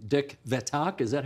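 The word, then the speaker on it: Vethaak: Dick Vetak, is that how he says it? Yep, very close. Vetak.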